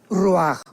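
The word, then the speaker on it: ruach: parte espiritual que es la palabra roach, que se pronuncia roaj.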